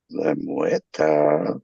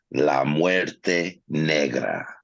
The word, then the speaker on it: La Muerte Negra: You gotta say it right, man. La Muerte Negra.